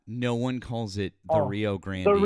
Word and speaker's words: Rio Grande: It's the Rio Grand. No one says the Rio Grandi. That's Grandandy. No one ever pron No one in Texas has ever pronounced it that way.